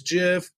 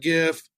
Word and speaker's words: GIF: hot or just call it what it's kind of like gift versus jiff technically it's jiff I call it gift because I don't care